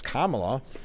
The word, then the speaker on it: Kamala: on how to say it I mean it's Kamala I think most people anyway poignant moment from